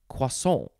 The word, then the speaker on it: croissant: all french and fancy i say croissant there's no r sound in there cuason um but this one